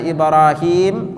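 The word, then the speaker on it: إبراهيم: perhatikan di kalimat ibrahimnya kalau Indonesia tulisannya Ibrahim tapi kalau Arabnya Ibrahim himnya itu panjang dua harakat ini kita enggak bacanya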